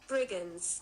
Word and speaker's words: Brigands: Brigins pronunciation Briggins. Brigins.